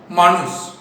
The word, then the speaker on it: manus: Last year के text book में लिख के दिया था कि मैनेजमेंट ये लैटिन वर्ड से लिया गया है, जिसका प्रोनाउंसिएशन था मानुस, MANUS, जिसका मतलब होता था टू हैंड, हाथ, यानी हैंडल द एक्टिविटीज।